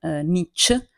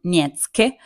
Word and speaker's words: Nietzsche: Friedrich Nietzsche Nietzsche non Nietzsche non nietzche come a volte i miei studenti Insomma l'hanno appellato Nietzsche penso vada bene lo stesso ma essendo bavarese credo che la pronuncia sia un po' più dolce quindi Friedrich Nietzsche e così non vi